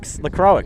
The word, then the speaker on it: LaCroix: How do you pronounce it? LaCroix? LaCroix? That are sparkling water stuff? What's that? LaCroix? Oh, LaCroix. LaCroix, yes.